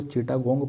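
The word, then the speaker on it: Chittagong: कहते हैं ठीक तो अंग्रेजी में उसकी जो स्पेलिंग है तो चिटा गंग पढ़ते हैं लोग लेकिन हिंदी में उ चिटगांव पढ़ते हैं ठीक तो है क्या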